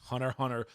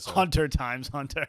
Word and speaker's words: Hunter x Hunter: x Hunter is getting Hunter Hunter sorry you're not supposed to pronounce the X people get mad is